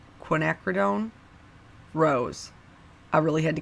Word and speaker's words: Quinacridone: Quinacridone Rose.